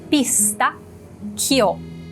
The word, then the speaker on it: pistacchio: Temos dois Cs, então tem uma pausinha. E chio, chio, chio. Vamos juntar tudo? Pistacchio, pistacchio, pistacchio.